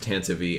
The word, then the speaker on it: Tantive: them say it because the Tantive is pronounced Tantivy and there's all kinds